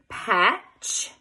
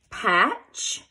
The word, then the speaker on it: patch: CH like the word patch patch you would underline all three letters and cross out the T because it is silent like the word patch